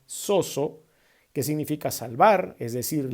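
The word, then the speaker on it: σῴζω: salvar viene de un vocablo griego que se pronuncia soso que significa salvar es decir liberar o proteger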